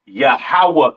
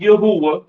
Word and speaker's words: Yahawah: it's not Yahweh right it is pronounced yahawah in the Hebrew all right yahawah in